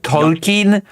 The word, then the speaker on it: Tolkien: But What is that my older Tolkien?